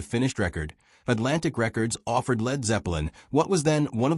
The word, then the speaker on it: Led Zeppelin: Later, manager Peter Grant recommended dropping the A so people wouldn't pronounce it as lead. The name became Led Zeppelin.